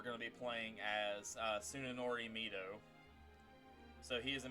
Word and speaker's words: Tsunenori: How is it pronounced? Tsunenori. Huh? Tsunenori.